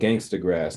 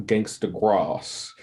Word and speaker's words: Gangstagrass: talent the we are we're called gangsta grass not gangsta cross because that's the way simon sort of pronounced it and we get a lot of people coming are you guys gangsta gross no no it's gang yes thanks to grass well that's good to know